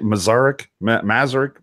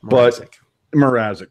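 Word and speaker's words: Mrázek: Mazarek, whatever I hate trying to pronounce that guy's name. Mrazek. There you go.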